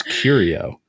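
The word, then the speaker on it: Curieux: also be the answer so how do you pronounce curio that's how we pronounce it this yep there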